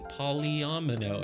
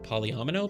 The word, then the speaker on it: polyomino: cuz we're starting the polyomino area now. A word that I still don't know if I know how to pronounce properly. Polyomino. Polyomino. Polyomino. Surely. Like domino.